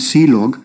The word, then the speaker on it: clog: standard errors and then the last one is clog which is pronounced as c log and this is used